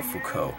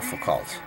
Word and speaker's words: Foucault: Michelle Foucault I realized his name is pronounced Michelle Foucault not Michelle fukult because I don't know